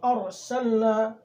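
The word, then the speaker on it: أرسلنا: کو باریک پڑھیں گے۔ ایک مثال، جیسے ہم ارسلنا، تو اس کا ہجے کریں گے، حمزہ را زبر ار، سین لام زبر سل، ارسل، نون الف زبر نا، ارسلنا۔ را ساکن سے پہلے زبر ہے اس لیے را کو پر پڑھیں گے۔ لام کے اوپر جزم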